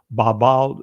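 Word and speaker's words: בבל: And when we go to the Hebrew word for Babylon in ancient Hebrew, Babel is the ancient pronunciation of it.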